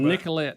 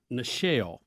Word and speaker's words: Nichelle: Nicolette Nichols, who was better known as Lieutenant Uhura on Star Trek, the original series.